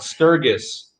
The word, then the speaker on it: Sturgis: no that's cool yeah some people call it sturgis a little hard g right right right nobody